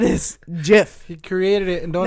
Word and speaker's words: GIF: both I guess it's the creator of the jiff your pronounces it Jeff he does word I